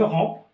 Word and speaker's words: romps: Alors, quand je frappe le siam et le kebda, alors je romps, quand je frappe, je romps, la PS ne se prononce pas, je romps mon jeune, siam d'yali, ou le jeune, mon jeune ou le siam.